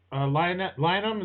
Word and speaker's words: Lynam: going I got a l lium is that how you say it that's it that's how you pronounce it good job first time